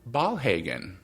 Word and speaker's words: Ballhagen: Her name is Ballhagen. Did I pronounce that correctly? You got it. Perfect. Ballhagen, yeah.